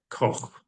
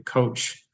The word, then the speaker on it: Koch: Our last name is spelled Koch, a German name. It's supposed to be said Koch. But when my grandparents came over, they changed it to Coach to be much easier.